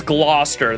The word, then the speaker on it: Gloucester: what gluester Gloucester oh yeah it was Gloucester that's right Council recognizes I already said my